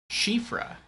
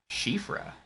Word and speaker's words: Siofra: Oh, Jen says, I was surprised when I learned of Siofra's true pronunciation. Shifra. Shifra. I would never have gotten that pronunciation from how it was spelled.